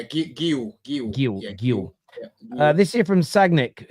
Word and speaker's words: Guiu: Is that how you pronounce Guiu or Gui? Yeah, Guiu.